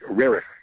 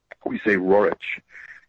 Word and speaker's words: Roerich: Roerich is the way the Russian, the Roerich is how it's said in Russian. In English we say Roerich.